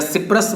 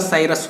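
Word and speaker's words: Cyprus: Capital of साइरस या सिप्रस बोलिए, pronunciation इसका साइरस होता है.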